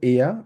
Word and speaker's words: er: এখানে যেহেতু আর আছে, আরটাকে আমরা উজ্জ্ব রেখে আমরা বলার চেষ্টা করবো এয়া, আরটা থাকবে না। আবার কেউ যদি এয়ার বলতে চান ডেফিনেটলি ওটাও কিন্তু কারেক্ট, বাট আমরা চেষ্টা করব সঠিকটা উচ্চারণ করার জন্য, ঠিক আছে, আমরা বলবো হচ্ছে এয়া, আরটা উজ্জ্ব থাকবে।